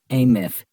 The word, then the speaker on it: AMF: The Andrew Melvin interrogation footage, AMF, pronounced ath is infamous among the conspiratorial community of old house archivists, OAS, pronounced ohas.